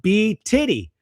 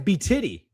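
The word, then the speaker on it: BTIDY: It's It's pronounced B titty. Oh, B T I D Y is B titty.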